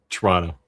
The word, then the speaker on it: Toronto: Toronto or do you say you you say Toronto, right? in in in in Canada it's just kind of become Toronto a faster version of it almost one syllable Tim said my